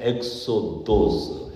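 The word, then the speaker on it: ἔξοδος: 그리고 15일 새벽에 빌라도가 사형 판결을 내리고 예수님이 이제 끌려가서 이렇게 세상을 떠나시는데 이것도 하나의 엑소도스, 헬라어 그렇게 발음해요.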